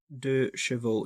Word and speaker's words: 2CV: CV Charleston by wellie 2 CV is pronounced as de Cho in French and at the same time the